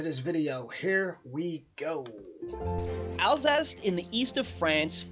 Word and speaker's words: Alsace: Alsace in the east of France feels like you are inside a country. Hold on. Elvez? Hold on. Alsace in the Elvez? That's how you pronounce that?